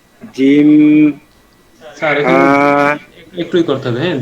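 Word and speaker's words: جيم: যাচ্ছে আলিফ বা তা জিম স্যার একটুই করতে হবে হ্যাঁ জিম এই টান দিতে হবে জিম শেষে এসে মানে ঠোঁট মিলাইতে হবে জিম হা তাল এখানেও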